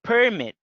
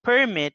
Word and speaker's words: permit: permit so the word the word permit the stresses in the first syllable is a noun if you want to use it's very equivalent we change the stress or we move to remove the stress to the next syllable to the second syllable we say permit so permit is announced and permit is a verb another example of a